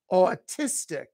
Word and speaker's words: autistic: this child is autistic that's a three syllable word with the stress on the second syllable autistic so the autistic child